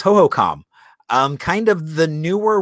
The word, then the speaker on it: Hohokam: always talk well the hohokam expressway is a bit backed up you know so ho ho com was like the way we learned how to say it when we were younger